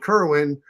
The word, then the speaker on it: Kerwin: When you get a when you get a guy called Kerwin because he rhymes with Berwin, like who's got the pull strings to make his little jaw go around?